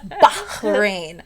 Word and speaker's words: Bahrain: um we were in Bahrain uh my kids in Bahrain would say no Miss Monique that's not how you pronounce it it is bahin you have to pronounce it properly so yes there I